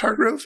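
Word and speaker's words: Heregrove: couple the heart grows it's spelled h-e-r-e-g-r-o-v-e but I think it's still pronounced Hargrove in England they they pronounce things weird sometimes sure um anyway the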